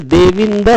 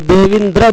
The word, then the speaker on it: देविंद: जैसे देविंद शब्द लिखा है तो देविंद्र बोलते हैं बहुत लोग, वो गलत है।